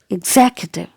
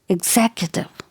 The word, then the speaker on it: executive: syllable here so exactly executive executive you got it so it is not ax or egg executive executive which means a person